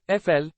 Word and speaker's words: Eiffel: of France you should know La Tour Eiffel pronounced FL it was constructed between 1887 to 1889 under